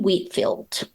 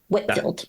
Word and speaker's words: Whitfield: yeah yeah and then Norman Wheatfield Whitfield I said that wrong that's not someone I'm